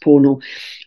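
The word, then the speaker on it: pono: in the past as pornal, P-O-N-O, but it's pronounced pornal, right relationship with the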